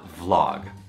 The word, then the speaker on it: vlog: Thứ nhất là nó không được phát âm là vlog đâu mà là vlog.